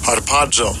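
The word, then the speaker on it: ἁρπάζω: Even further, I want to go to the root of the word, and I'll give you a pronunciation of it. Strong's G 726, harpazo.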